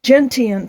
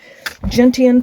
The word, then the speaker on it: Gentian: We also had our lunch there, and now I have I think it was like 5.2 or 5.7 to Gentian Pond is the correct pronunciation, I think. Gentian Pond, which will be the completion of my hike.